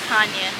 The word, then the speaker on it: Chania: chania but it's it's spelled Chinese but it's pronounced Kanye and balasarna is one hour away from there